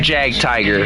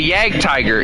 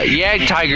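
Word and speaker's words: Jagdtiger: I used to call it Jag Tiger. And it's apparently Yag Tiger. Yeah, Yag Tiger is apparently the appropriate way to say it, which makes no sense, but okay.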